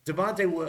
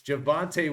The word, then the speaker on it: Javonte: you've got J uh Jalil mofin uh almost butchered that from Denver uh with de Devonte um Jesus javante Williams there we go there's no Javonte Williams